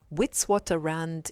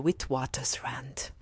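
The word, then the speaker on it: Witwatersrand: in Johannesburg South Africa did I pronounce it correctly almost that's why most people abbreviate it most people actually say wi University and it is a bit complicated to pronounce but it is the University of the witw waters Rand witw Rand it also sounds better than what I said but that's no problem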